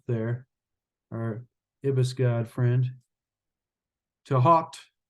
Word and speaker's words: Thoth: our Ibis God friend to hot I heard someone pronounce it one time or to hot he said that was how it's actually pronounced in Egypt I think that was